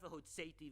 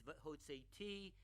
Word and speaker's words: v'hotzeti: It's not v'hotzeti, v'hitzalti, v'ga'alti, v'lakachti. It's v'hotzeti, v'hitzalti, v'ga'alti, v'lakachti. Yes, in Hebrew, and especially in biblical Hebrew, putting the emphasis on the wrong syllable can change the meaning of a phrase.